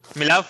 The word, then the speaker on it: Milov: i say your name mia love and mic yourself say hi hi there can you hear me how do we say your name milov yeah you said it right awesome well welcome what's